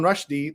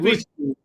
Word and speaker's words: Rushdie: Did you know that you've also been saying another name wrong? Instead of Salman Rushdie, the way we all say it, it's Rushdie.